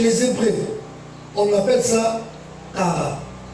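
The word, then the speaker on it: קרא: On appelle ça Kara. Kara. Ça s'écrit Q-A-R-A.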